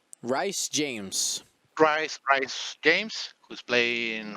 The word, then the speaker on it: Rhys: It is Rhys, not Rice. Rhys.